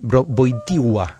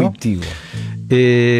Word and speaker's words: Wojtyła: El papa polaco Karol Józef Wojtyła, en realidad Wojtyła es la pronunciación correcta, ¿no? Wojtyła.